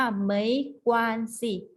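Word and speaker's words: 没关系: ไม่ เป็น ไร นะ คะ ออก เสียง ว่า ไหม กว่า สิ ไหม กวาง สิ เขา ว่า ไม่ เป็น ไร เนี่ย เขา ไหม กว่า สี เนี่ย ใช้ ตอบ รับ คำ ขอ โทษ นะ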